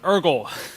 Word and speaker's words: Urgel: So my name's actually pronounced Urgel, kind of like gurgle without the first G.